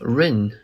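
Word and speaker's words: 润: to flee china recently the study of rin which is phonetically similar to the english word run is on the rise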